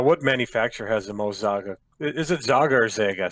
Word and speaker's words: Zhaga: So in our European, we say Zhaga, but the Chinese have more like a Zhaga type of pronunciation.